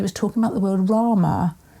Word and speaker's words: Rama: talking about the word Rama. When we say Rama, or when I say it, I don't pronounce my R, that he rolled his R, it was a really long grrr, and he said that